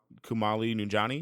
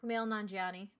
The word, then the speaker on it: Kumail Nanjiani: And then Kumali Nunjani, is that how you say his name? Kumail Nanjiani. Yeah, I love him in stuff.